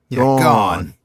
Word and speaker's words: garn: He uses the word garn, which I didn't know. It's per the OED. It's a colloquial cochnney pronunciation of go on. So yeah, say go on but kind of slur them together. Gone.